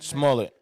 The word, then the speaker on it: Smollett: Smollett.